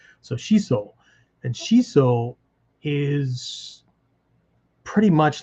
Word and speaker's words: shiso: system maybe um it's it tells you to to hold the O twice as long it just makes it longer so shiso and shiso is pretty